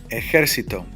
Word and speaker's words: ejército: We will always carry an accent mark because it's 2 syllables and beyond. Okay? A ver. Ejército.